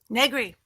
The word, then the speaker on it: Negri: So do I pronounce it Negri? Negri. Oh, Perfect. I like the into it, but Negri.